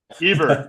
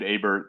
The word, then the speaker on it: Hebert: I guess it depends where you're from, but we say Hebert in New England. Hebert, thank you, thank you. I think there was a great football player named Hebert that I'm recalling, but